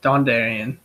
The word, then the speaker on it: Dondarrion: How do I pronounce that? Yeah, Dondarrion.